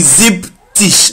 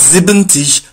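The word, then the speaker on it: siebzig: will be set fish 70 will be zip tish not zebenti ziptish 80 will be active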